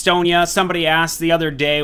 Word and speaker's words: Sonya: the melee Warrior super Sonja and it is pronounced Sonia somebody asked the other day why I call her Sonja and it's uh it's just a name a